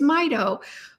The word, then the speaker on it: Mito: me is my and I always pronounced it Mito and you know what I found that that was wrong it's Mido for mitochondria which makes total sense I use the Mito